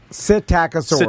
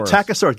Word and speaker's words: Psittacosaurus: Psittacosaurus. Psittacosaurus starts with a P. Why'd they do that, Jimmy? Tom hates that. Oh, he's already out. He's already out. Starts with a P. He hates silent letters.